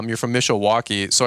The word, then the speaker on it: Mishawaka: Yeah, so it's Mishawaka. Mishawaka. There you go. Yeah, it's spelled weird.